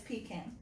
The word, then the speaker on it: pecan: Only if you say it right, it's pecan.